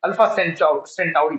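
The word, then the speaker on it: Alpha Centauri: अल्फा सेंचुराई, इसको actually मैं सेंचुरी बोलता हूँ, याद करने में आसान होता है, ठीक है। अल्फा सेंचुराई स्पेलिंग सही है, टाउरी, TA, ओके, सेंटाउरी, सेंटाउरी, अल्फा सेंटाउरी, ठीक है।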